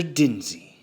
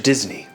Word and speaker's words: Disney: So you are, in fact, Mr. Dinsey. No. Mr. Disney. If you're gonna say it right.